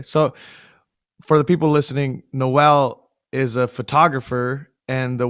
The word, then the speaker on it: Nawal: lebanese name so um usually i tell people to think of like christmas noelle but it's spelled much